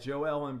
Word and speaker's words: Joel: I never realized that JoEllen beads name was spelled just like mine Joel but he pronounces Joelle and I forget where